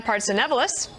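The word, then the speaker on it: Partsinevelos: Christina Partsenevelis, I hope I said that right, is outside of a Starbucks in New York City.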